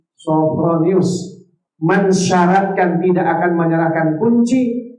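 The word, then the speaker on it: Sophronius: kota alquds pendeta sonus bacanya sofo bukan Sapro ya sofronius mensyaratkan tidak akan menyerahkan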